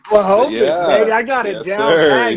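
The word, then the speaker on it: Błachowicz: Blachowicz, baby.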